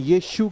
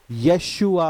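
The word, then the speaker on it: Yeshua: English शब्द है लेकिन यीशु का असली नाम यशुआ है वाई ई एस एच यू ए यशुआ और उसको प्रोनाउंस यशु नहीं होता यशुआ होता है यशुआ सोचिए जरा प्रियो सोचिए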